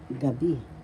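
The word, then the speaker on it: gabi-gabi: repeat inal gabi gabi first syllable ga second syllable b and repe excuse me please repeated gab so the second syllable has the accent gabi so you pronounce it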